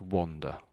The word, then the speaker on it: wander: I think of it as wonder. I was be I was beginning to wonder if I would ever meet anyone. And if it was an a, then it's wonder. Oh. Oh. Then it sounds like an o really, I suppose. Really. So when it's an A there, that's when you're walking around lost maybe. So that's wander. Wonder.